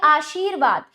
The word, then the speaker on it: आशीर्वाद: ऐसे ही देखिए आशीर्वाद, यहाँ पर शी और वा के बीच में रा का उच्चारण होना है लेकिन लगेगा अगले वर्ण पर।